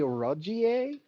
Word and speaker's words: Rogier: It is actually Rogier. They say it incorrectly.